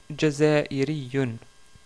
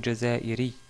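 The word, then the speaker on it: جزائري: C'est le mot Jazairiyun. Jazairiyun ou Jazairi si vous arrêtez sur le mot.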